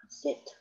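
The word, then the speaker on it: sept: 然后这个 sank 五，然后 sis 六 set 七 set t 要发音啊 t 要发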